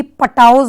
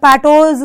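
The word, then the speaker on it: Patau: इसके बाद है द पैटोज सिंड्रोम, जिसको आप लोग मे बी पटाओज या गॉड नोज कैसे पढ़ते हो, लेकिन जो इसका real pronunciation it इज द पैटोज syndrome.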